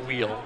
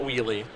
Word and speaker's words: Wheele: as well have confirmation Aaron's last name is pronounced wheel not wheelie I just wanted to